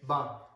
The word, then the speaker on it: p: So please pay close attention. Good example of that is the P. The P is pronounced like the English letter B. Okay, ba. It is not the English letter P, pa.